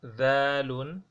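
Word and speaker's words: ذال: After dalun, we have dhalun. Dhalun. This the, if you are to articulate it in terms of pronouncing it, you will do it as tha, but you say the.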